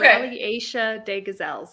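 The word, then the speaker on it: Rallye Aïcha des Gazelles: It's the Rally Asia de Gazelle. I don't know. Yeah, that was pretty close. The Rally Asia des Gazelles. It's French. Okay. Even I had trouble pronouncing it when I was over there.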